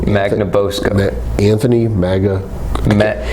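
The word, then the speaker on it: Magnabosco: Boscoe man oh sorry mag like magnet ya know na Bosco like mountain of Bosco yeah like Magna Carta buzzer it's just really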